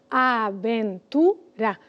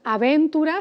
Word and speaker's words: aventura: Si pensamos en aventura, como este programa, la aventura del saber, pues separaríamos aventura. Y no decimos aventura, sino aventura. O sea, que empezando por el final, la sílaba tónica es la penúltima.